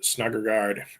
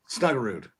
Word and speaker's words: Snuggerud: The Snuggergaard and Wood combo. I think it's too much. Snuggerud.